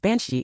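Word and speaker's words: bean sídhe: Bean Sidhi, pronounced banshee in Irish means woman of the very mount.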